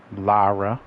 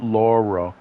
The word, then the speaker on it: Lara: you jump too far Lara there's still a big thing about people mispronouncing her name it's not Laura it's Lara okay but you know